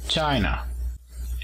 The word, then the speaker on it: China: China tiene el apóstrofo en la primera sílaba. China.